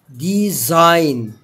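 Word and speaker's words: design: زي كلمة ديزاين، تصميم، تمام، برضو الجي جه وراه حرف الان، فما نطقناش الايه؟ الجي. بعد كده حرف ال مش هينطق لو جه قبليه او او يو.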